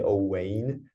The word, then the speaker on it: Owein: It's a this way of writing is actually from Welsh. It's like a Welsh way of like writing it, but yeah, it's just like pronounced normal. I mean, you could say Owein, but like no one calls me like that. Like it's just like Owein, Owen, What does your mother say?